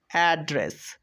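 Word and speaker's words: address: আমরা ডি ডি পেয়েছি দেখো আমরা দুইটা ডি পেয়েছি তাই একটা ডি এর উচ্চারণ করছি একটা ডি এর উচ্চারণ করছি না তো এডি অ্যাড আর ই এস S race অ্যাড্রেস অ্যাড্রেস চলো আমরা পরের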